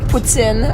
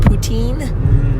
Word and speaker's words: poutine: tease me because of my accurate pronunciation of puts in or what no because it I mean it's kind of its kind of ironic teasing because I'm very much aware that we miss about we mispronouncing because I'm aware of it yes for those of you at home that are like what is she talking about I'm talking about what Anglophones normally called poutine so the French fries